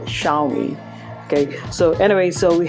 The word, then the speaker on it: Xiaomi: a lot of question Western bloggers were like pronouncing it jolly which makes it a bit classy to me you know it sounds classy Jean me or instead of Xiaomi okay so anyway so